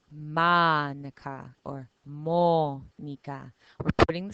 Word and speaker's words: Mónica: So if your name is Monica, Mónica in Spanish, you put the stress on mo. You don't say Manica or Monica. We say Manica or Mónica.